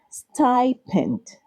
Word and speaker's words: stipend: It is correctly pronounced stipent.